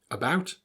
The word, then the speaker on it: about: it a lot easier here are three words you may already know how to pronounce them about around again the act sound that you read is actually pronounced as an up sound the schwa now you might think